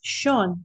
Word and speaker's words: Sean: It is typically Sean, but it's spelled, and it's one of those silly things that, idiosyncrasies of language.